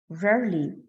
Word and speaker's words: rarely: this word verily rarely we do not pronounce the e rarely and never those are